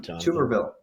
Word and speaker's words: Tuberville: How do I pronounce it? Tuberville.